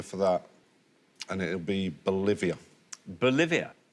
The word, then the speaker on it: Bolivia: Bolivia, very well played. The only country in the world to rhyme with Olivia.